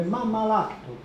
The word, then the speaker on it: mammalactu: Presso le saline, quello preposto alle saline, mammalactu, questo si legge mammalactu, significa in punico saline.